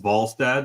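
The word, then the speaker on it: Wallstedt: You're calling Walad Walstad, but I'm pretty sure isn't it pronounced Volstad like Swedish?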